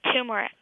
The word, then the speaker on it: turmeric: Yeah, usually people say it with the stress on the very first syllable, like you're saying it.